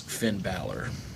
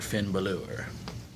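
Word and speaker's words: Bálor: And well, his name's been pronounced one of two ways, but it's mostly known as Finn Balor or Finn Balor, one way or the other.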